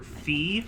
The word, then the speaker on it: Fi: I think it's fi specifically because I've heard it in Hyrule Warriors, uh, they pronounce it Fi. And considering that Hyrule Warriors, you know, was developed by Nintendo themselves, I'm going to defer to the game on that one.